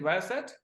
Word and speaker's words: Viasat: Is it the way we pronounce it, Viasat?